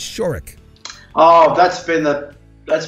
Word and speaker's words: Shorrock: Shorrock ran into the same thing it's not Chirac it's shirk oh that's been the that's been a part